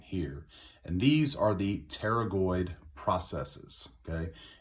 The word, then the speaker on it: pterygoid: It's pterygoid with a P, all right? Not pterygoid with a T. The P is silent, just like in pterodactyl or pneumonia. The P is not pronounced. It is not pterygoid.